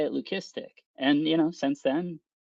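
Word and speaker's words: leucistic: And yeah, learn lesson learned, you know, of the whole uh, lucistic, right, being the appropriate pronunciation, you know, for that.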